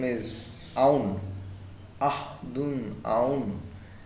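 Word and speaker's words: Auðun: Ahdun Aun. It's a person in Iceland, so the pronunciation is going to be Ahun.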